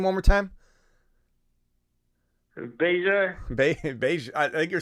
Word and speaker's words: Bijan: Bijan. Everybody loves the way you're pronouncing these names.